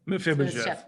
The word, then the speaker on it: Mephibosheth: Mephibosheth.